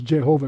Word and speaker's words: Jehovah: And it's a Yahweh or Yehovah, but in the German the J is like a Y, so it says Jehovah because they don't understand it came from German.